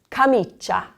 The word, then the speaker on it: camicia: So these top words here are all blended. So the first one here is, we've got a lot of C's in this word, camicia.